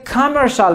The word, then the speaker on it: commercial: He is a teacher He is a commercial manager Commercial manager یعنی مدیر بازرگانی. CIAL گفتم چی تلفظ میشه؟ شال.